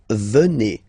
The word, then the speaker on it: venez: Okay, then classic ending for vous, Z here, and then you pronounce it et, vous venez, vous venez.